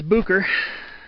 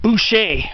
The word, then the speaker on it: Boucher: that dead end there's Bucher right there you'd think it's like you'd think the name was French like Boucher but it's actually pronounced bucher there's the lower French